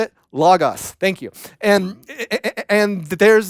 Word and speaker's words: Logos: this idea of l-o-g-o-s how you say it log us thank you and and there's this concept that